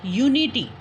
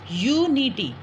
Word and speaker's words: unity: And the second one, if we write a one word, unity. Okay? This is the unity. You take the sound of ya, not a.